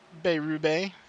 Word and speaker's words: Beyrube: Steve Beyrube. That's how I was told to pronounce it. I feel like I'm saying it slow, but it's still right.